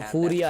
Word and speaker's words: Furia: फ्यूरिया pronounce करते सब फूरिया है, फूरिया।